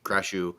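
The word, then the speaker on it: クラッシュ: So how is how say it like slower? Crashu, Kurashu. kurashu. That's I don't have the fucking It's almost like saying crush.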